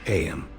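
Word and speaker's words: Eyam: It's now the asterisk summer of 1665 and we find ourselves in AM. A small village nestled in the asterisk picturesque hills of Darbisha, England. AM, you know, is pronounced just like M asterisk.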